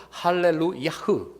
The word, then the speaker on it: 할렐루야: 그래서 원래는 할렐루야가 아니고 히브리어, 원래 본토 히브리어 발음은 할렐루야흐, 할렐루야흐라고 하는 그런 말입니다.